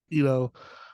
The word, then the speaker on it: Eno: Eno, who directed this?